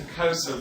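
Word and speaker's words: Xhosa: If we listen, when we're listening to Kosa, it's just a pure auditory thing.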